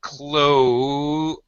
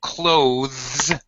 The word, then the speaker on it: clothes: not to one syllable clothes with a sound but that's proper dictionary pronunciation but most native speakers both British and American reduce the sound and the word clothes they usually pronounce it like close just like close the